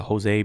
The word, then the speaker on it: Jose: It's a tongue twister to pronounce names starting with the J and the H, and the Jose being pronounced as a H.